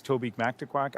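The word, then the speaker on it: Mactaquac: It's Toby Mactquack. I have an unfair advantage in pronouncing that riding name because about 45 years ago, I went on a school trip to the Mctaquac Dam.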